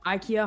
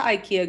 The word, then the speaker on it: IKEA: Ikea. If you're speaking Italian. What? That's how they pronounce it. That's how the they Swedish say meatballs, IKEA.